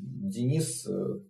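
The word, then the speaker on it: Dinis: ну и решит денисом но похоже что все-таки denis это правильное произношение и вот этот denis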